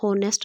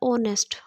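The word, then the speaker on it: honest: इसको हम होनेस्ट नहीं बोलेंगे, इसका प्रोनाउंसिएशन क्या होता है, ऑनेस्ट।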